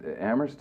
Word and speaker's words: Amherst: Amherst College. The H is silent. Sorry? Like the, yes, my mother always used to say, like the P in swimming.